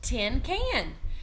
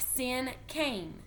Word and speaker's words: cinquain: This word is pronounced like sin cane.